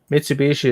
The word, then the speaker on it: Mitsubishi: Well, I'm wondering if the U is no, not there. It wouldn't be silent because, like in a Japanese word, if a U comes at the end, it's silent. But I don't think it's silent in Mitsubishi.